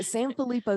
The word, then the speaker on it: Sanfilippo: much I've been working on it no so San felipo syndrome we will get more into that as